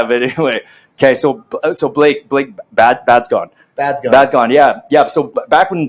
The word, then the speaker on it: Badzgon: It's Slovakian, so a lot of people get it wrong. It's pronounced Badzgon. Badzgon.